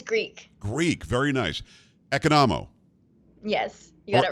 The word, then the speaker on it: Economou: her name is is it economo or kanamu how do you say your name it's economo economo well there you go